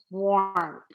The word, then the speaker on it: war: ar in war okay why does ar say or well in the english language after a w or after a q u the a r it's a convention the a r is spelled at is spelled the or sound is spelled with an ar if i use the no r actually this o r is pronounced as er after a w o r is usually pronounced er so this is just